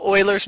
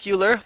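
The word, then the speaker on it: Euler: alpha it's actually called Oilers number and I know this word here uler it looks like uler like ber but uler but it's not it's Oiler is how it's SP uh pron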